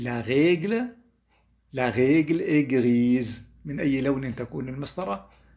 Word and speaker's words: grise: La règle est grise. حطينا الأو، ثبتناها الأو بآخر الكلمة، وبالتالي صارت تلفظ الإس، لكن بما أنها بين حرفين صوتيين صارت تلفظ زد.